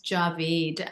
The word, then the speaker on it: Djavid: you for having me my last name is Javid and um it's it gets mispronounced all the time so I I respond